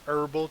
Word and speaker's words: herbal: herbal teas I guess they're not her herbal teas don't pronounce the H I'll show you David's